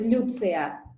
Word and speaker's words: Lyutsiya: tell me your name so my name is pronounced as lucia okay lucia i see